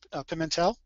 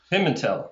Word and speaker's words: Pimentel: pronounced right or not the last name is pronounced Pimentel pimel okay pimel pimel or pimel it depends on what part of the country you're from okay well that's pretty